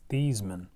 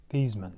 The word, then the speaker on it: Theismann: his name so actually joe theismann's how you pronounce it is thiesman thiesman so they thought it